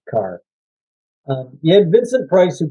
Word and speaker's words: Kerr: It's spelled Kerr, but I guess it's pronounced Carr.